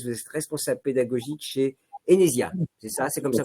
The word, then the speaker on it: Enesia: Jérémy Pilves, vous êtes responsable pédagogique chez Enesia, c'est ça? C'est comme ça qu'on prononce?